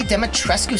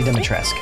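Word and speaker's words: Dimitrescu: Lady Demetrescu style. I actually heard somebody say that it's not the last part of Dumitrescu, even though it's said or it's spelled that way. Yeah. It's actually Lady Dumitrescu.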